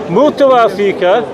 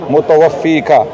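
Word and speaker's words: مُتَوَفِّيكَ: Ya Isa, inni, mutawafika, right? That's incorrect. Right. Mutawaffiq, yeah. Your pronunciation is incorrect.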